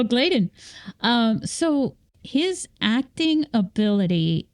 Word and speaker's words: Gladen: been uh 15 years I've been pronouncing your name your last name wrong that's all right so gladen um so his acting